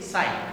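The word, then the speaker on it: ψ: लिया है हमने, सिंबल साई लिया है, क्या बोलते हैं इसको, पी साइलेंट होता है, इसको साई बोलते हैं।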